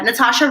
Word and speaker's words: Nathasha: So, you can search me as Nathasha. My name is spelled with an H after the T, so it's a silent H. So, Nathasha, and I recommend